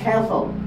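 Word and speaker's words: castle: তাই এখানে উচ্চারণ হবে খেসল টি এর উচ্চারণ হবে না খ্যাচ হবে সি এর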